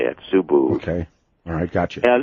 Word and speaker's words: Subud: food series Ubud is how they say it subbu okay I got you that if they never